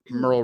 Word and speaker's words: Merle: And it had no other source except that Merle rhymes with squirrel.